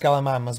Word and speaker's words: Gallimimus: Gallimimus. Ah. It's pronounced Gallimimus, but yeah, sure.